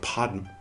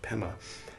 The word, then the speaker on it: padma: We should say hum instead of hung, and we should say pema instead of, or we should say padma instead of pema.